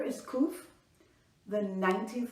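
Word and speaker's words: ק: sure to respond okay first uh letter is kuf the 19th letter of the Hebrew alphabet at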